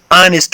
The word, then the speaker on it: honest: د honest کې h نه تلفظ کېږي، h سایلنټ ده. د h په ځای به موږ honest وایو، الف وایو یعنی آواز به ورکوو honest.